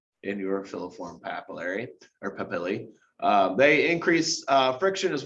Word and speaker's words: papillae: tongue okay and uh if it's plural it has the e at the end so we pronounce it papillae okay there's four types